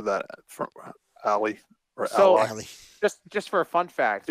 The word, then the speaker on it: Ally: They pronounce it Ally, but it's spelled like Alley, right? A-L-L-Y.